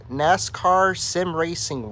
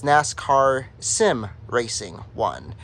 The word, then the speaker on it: nascarsimracing1: who designed it the credit goes to first NASCAR Sim racing one that's how he pronounces his YouTube channel it's uh commonly mispronounced as NASCARs I'm racing but it's NASCAR Sim racing one and then the other uh person who designed